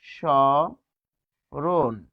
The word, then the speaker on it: স্মরণ: তারপর দেখুন স্মরণ। এখানে কি হবে? সরণ। এখানে হবে দন্তন্য।